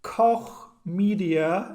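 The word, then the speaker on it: Koch Media: true i believe it coch media and yes that's that's how you say it media media i'm so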